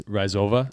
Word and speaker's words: Rova: I'm pretty sure it's rova yeah she told me you have to roll the r rova yes I can't